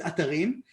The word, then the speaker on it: Atarim: I pronounce it atarim, even though because it's an Hebrew word, so it's easy for me to say. But I imagine that most people will call it atarim or whatever.